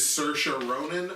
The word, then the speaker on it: Saoirse Ronan: award go to and I'm gonna pronounce her name the way that I regularly pronounce her name which is Saoirse Ronan I don't know if that's exactly how you pronounce the name but that's not good to go with it my honorable legends begin